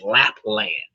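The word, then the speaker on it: Lapland: of La Pen Lapl that could easily be pronounced as lap dance. It's lap land.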